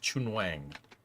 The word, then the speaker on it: Chun Wang: Worth noting his name would be pronounced Chun Wang.